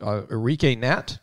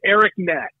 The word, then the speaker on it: Eric Nat: I'm going to guess how you pronounce it. Enrique Nat? Is that how you say it, Coach? It's Eric Nat. Eric Nat. I know. It's spelled funny.